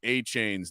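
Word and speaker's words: Achane: All right, so how do you say A-Chain's name? I say it like you just said it, Devin A-Chain.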